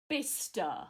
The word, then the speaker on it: Bicester: an actual real Bista. But it's spelt Bicester.